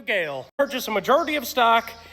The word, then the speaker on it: Gehl: We're talking about Gale. Some of y'all didn't even know how to pronounce that.